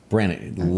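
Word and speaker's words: Branigan: How do you pronounce that name? Brannigan.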